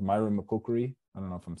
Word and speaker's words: myrmecochory: How do you say that with ants? Myrmecochory? Myrmecochory, yeah. Myrmecochory.